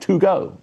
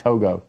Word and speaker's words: Togo: Could you spell it for me?" T O G O. I was like, "Toggo." She's like, "Toggo."